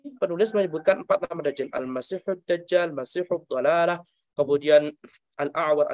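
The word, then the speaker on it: المسيح: Yang benar al-masih, mimnya di fathah, pakainya ha, bukan kha.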